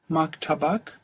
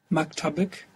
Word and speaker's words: maktabak: maktabak Maktabak. Good. The accent will move one down when you add on that extra syllable. Maktab, maktabak. To a female? maktabik Maktabik.